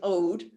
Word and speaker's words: oud: Yeah, it's an ode.